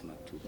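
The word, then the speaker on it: مكتوب: I don't know like the correct pronunciation, but it's maktub or maktab, but it's maktub. I'm sure it's maktub.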